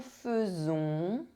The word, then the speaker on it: faisons: AI is pronounced E. Je fais, tu fais, il fait, elle fait, on fait, nous faisons, vous faites, ils font, elles font.